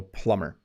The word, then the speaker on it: plumber: they are a plumber notice you don't say you don't pronounce the letter b so plumber an electrician is responsible